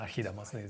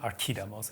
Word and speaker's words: Archidamos: So it's quite funny that they use the sort of modern Greek pronunciations of these words. Obviously, Pausanias and Archidamos, these are modern ways of pronouncing these names. We should actually be talking about Pausanias and Archidamos. It's a hard K sound.